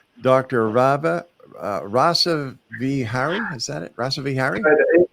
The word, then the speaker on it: Rasaviharii: I believe your name is pronounced Dr rabba rasa V Harry is that it Russellville Harry in uh so this in rasa vihari rasa vihari but you can just call me rasa for